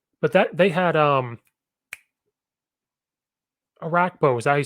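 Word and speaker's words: Orakpo: were roommates mm-hmm but that they had um a rack bow is that you say his name that defensive end brian rackpo yeah like dope once in a while i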